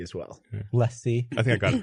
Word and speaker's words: LaCie: The LaCie drive? Yeah, he just designed every Lacy drive for some reason. You say Lacy? I say LaCie as well. Yeah. LaCie.